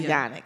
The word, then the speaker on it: Yanik: so you say it so you know I'm calling you unique so it's yan yan yes there we go Dr Yanik like unique y a n i c k yes Yanik slam yes